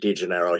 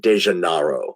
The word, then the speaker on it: DeGennaro: people don't realize that somebody had to tell me how to pronounce my name i told them my name was degenero he told me to spell it he said no that's not your name your name is dejanaro and he's correct that's